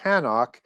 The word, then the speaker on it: Hanok: his son Enoch, or Hanok, although you wouldn't pronounce the H.